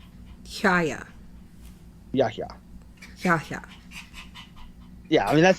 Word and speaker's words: Yahya: Yaya, right? Yeah. He says you have to say the H. Yaya. Yahya.